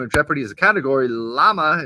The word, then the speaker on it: llama: Llama is pronounced with a Y sound by many Spanish speakers.